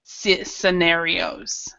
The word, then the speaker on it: scenarios: a lot of times with SC words with SC like for example a science a scene we actually do not pronounce the c or we don't pronounce